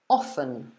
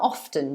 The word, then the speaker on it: often: way often so you pronounce the t or often where you forget the t basically okay so yes hannah you got it over there is the t sound so you could say how often do you go to the gym or how often do you go to the gym both of these would be fine yeah so what do